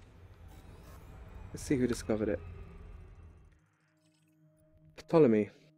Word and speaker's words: Ptolemy: see who discovered it Ptolemy I know you don't pronounce the P I mean west country